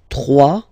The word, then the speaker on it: trois: Trois. Final s not pronounced.